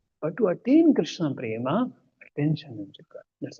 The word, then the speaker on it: Krishna: So see, it's Krishna. Krishna. It's not Krishna.